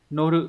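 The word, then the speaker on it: 乗る: Số 2, đây là chữ thừa lên xe, từ này phải đọc là noru, norimasho đúng không?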